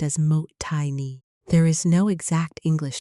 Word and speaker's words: Mottainai: Mottainai, pronounced as mot-tai-nee, there is no exact English translation, but the